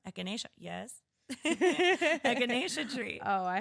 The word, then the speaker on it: echinacea: friend made a lot of how do you pronounce it? Echinacea. Echinacea, yes.